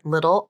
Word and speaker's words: little: the right I sound the T in little also turns into the flap here which sounds like a fast D consonant her pronunciation is a